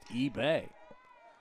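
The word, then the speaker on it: Ibe: Again, it's spelled I-B-E, pronounced eBay.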